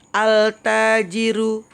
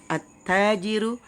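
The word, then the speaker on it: التاجر: Jangan bacanya gini. Al-tajiru, al-saubu, itu salah ya. Tapi langsung masuk. At-tajiru, as-saubu, ad-diku, dan seterusnya.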